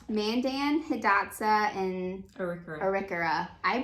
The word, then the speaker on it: Arikara: how it actually is pronounced Mandan hidatsa and arikura I pronounced it arikara in my mind which is completely false so